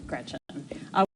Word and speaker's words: Gretch: named after my grandma Gretchen, who I adore. It's funny though, because she always said, never let anyone shorten your name. Don't let people call you Gretch because it rhymes with wretch.